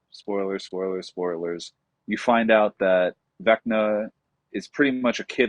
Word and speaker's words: Vecna: Vecna.